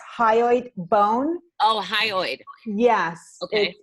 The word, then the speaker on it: hyoid: this in relation to the first card when it's spelled H y ou ID its hyoid bone oh hi Lloyd yes it's the only